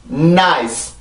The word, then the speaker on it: nice: eyes N 발음이 들어갑니다. nice 한 번 더.